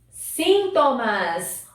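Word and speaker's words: síntomas: a gente vai ver sintomas olha aqui outra palavrinha com a sílaba tônica diferente sintomas nós temos sintoma em português e esse sintoma é espanhol então agora vamos ver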